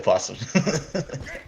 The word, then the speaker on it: opossums: to rock and sock'em opossums i know the oath is silent it's just fun to say well possums so old economy is